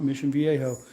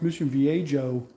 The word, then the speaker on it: Mission Viejo: Orange County, Mission Viejo in Spanish, the J is silent, Mission Viejo. And I would actually have people tell me, like, it's Mission Viejo.